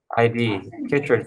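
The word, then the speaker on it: chytrid: yes the problem is the kit and this is how you spell it c-h-y-t-r-i-d kitrid fungus the fungus kills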